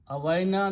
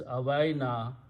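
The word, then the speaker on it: أوينا: When you have a Hamza and there is an alif before that, which is Awaina, this alif should be pronounced with a long mad. That is the effect of Hamza backward on the alif. So that's the reason there is a mad in the Quran, Awaina, because of this ila. If ila was not there, then you simply pronounce Awaina.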